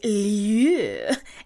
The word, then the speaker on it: Lieux: It's a French word meaning places, but I saw it as a name, and I assume it's pronounced like Lou or Lieu, just with a little yeah in there.